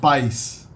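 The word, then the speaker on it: paz: spelled p-a-z instead of being bus is usually pronounced pies peace pies the word for light in Portuguese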